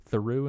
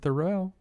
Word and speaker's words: Theroux: I guess that's the same name, but they just pronounce it. It's real. They're cousins. American and British pronunciations of the same name? Is that what you're saying?